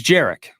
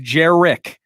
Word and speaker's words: Jerick: I really hope that Jerick McKinnon, by the way, apparently I've seen online in minutes, it's Jerick, okay? Mm-hmm. Jerick, 2 syllables.